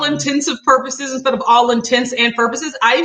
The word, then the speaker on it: intents and purposes: that one I used I had literally thought that intensive purposes was the correct way to say it like I thought that